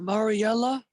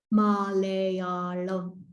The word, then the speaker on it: Malayalam: And how do you pronounce it? Is it Mariella? Malayalam.